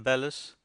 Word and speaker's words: bellows: I know a man who always calls them bellis, which is, I believe, the professional pronunciation.